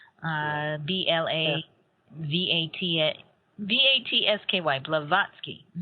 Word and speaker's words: Blavatsky: say her name again for our audience Helena blavatsky uh b-l-a-v-a-t-a v-a-t-s-k-y blavatsky right fascinating individual but so the three aspects